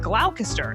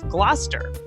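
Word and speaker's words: Gloucester: Like originally, I said glalcaster instead of Glouester.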